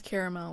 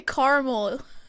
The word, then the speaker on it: caramel: caramel oh my gosh I can't believe you pronounce caramel like that GH what what did I do wrong now you say caramel it's caramel it's caramel caramel there's two A's there's two A's caramel